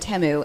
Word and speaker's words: Temu: during the Super Bowl all of their commercials said temu and I lost my freaking mind because I've been saying Teemu this entire time pronounce it like a